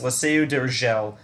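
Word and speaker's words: La Seu d'Urgell: So uh, that double L, normally in Spanish it's like a ya, but because of where it was like positioned in the word, I knew that it was like probably Catalan instead, where it's more like a ya instead of a ya.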